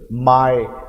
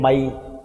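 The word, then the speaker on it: my: इसे प्रोनाउंसिएशन देखो, माय, लोग बोलते हैं माई, माई नहीं बेटा माय, माई नहीं माय।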